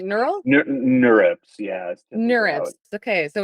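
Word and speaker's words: NeurIPS: mentioned you submitted two manuscripts to is it pronounced n IPS like neural nurs yeah nurs okay so it's a conference on neural information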